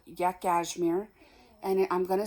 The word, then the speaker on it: Yakashmere: um so the brand of yarn is called yak asmir and I'm going to spell it to you cuz I could be saying